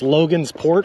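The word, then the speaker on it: Logansport: had a discussion on whether or not it's pronounced logan's port or logan sport and we all determine it's logan's port because it's on two rivers season two subway shawn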